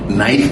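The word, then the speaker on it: knife: में गए थे तो टीचर ने कहा नाइफ की मीनिंग के एन आई एफ ई है। तो बच्चों ने कहा ये भी तो लगाए नाइफ होना चाहिए। बोले नहीं ये साइलेंट है।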